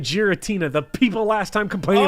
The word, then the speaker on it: Giratina: and run no because I said gutina instead of Giratina the people last time